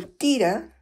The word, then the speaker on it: tira: So tira, T-I-R-A, stands for tierra, T-I-E-R-R-A. It is, tira is the Quechua pronunciation of the Spanish tierra.